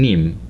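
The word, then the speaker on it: Nîmes: name c is to think about denim denim denim the textile you have today has been created in Nim and that's why it's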